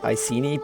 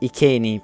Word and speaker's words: Iceni: most people would say iini but the word ieni comes from Latin and in Latin you pronounce the C at least in classical Latin which is what the